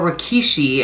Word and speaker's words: rikishi: The sumo wrestlers, or rikishi, I think is how you say that, on this year's lucky bags are said to bring good luck and fortune.